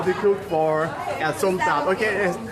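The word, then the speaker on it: som tam: So You have to pronounce somtam, yes.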